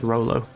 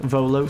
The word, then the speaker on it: Volo: celibate unless I've course Rolo um has something to say there he is over there Volo sorry I called him Rolo I got his name wrong I've ruined myel with him